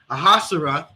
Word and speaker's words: Ahasuerus: And that's what King Salakia, how do we pronounce his name? Ahasuerus.